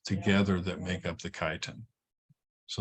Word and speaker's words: chitin: are made of of Titan this substance called chitin let me underline that keyword so c-h-i-t-i-n not pronounced chitin I've had students uh um who have gotten